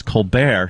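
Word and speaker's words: Colbert: If you can get Americans to to to say a silent T regularly, I think that's impressive. report. Jimmy actually once yelled at me. He goes, "It's report." And I was like, "No, Jim. See, because it's Colbear."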